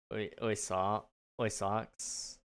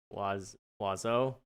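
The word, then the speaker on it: oiseau: Birds in French is oy socks. It's pronounced wazo.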